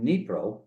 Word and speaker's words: Dnipro: And that's why I stayed in Dnipro, the D is silent, Ed.